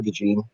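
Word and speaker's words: DeJean: get him but yeah he pronounces it Cooper de jeene okay yeah and he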